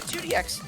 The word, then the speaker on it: IIDX: Or pronouncing it as 2DX simply is another acceptable way of referring to it here in the fandom.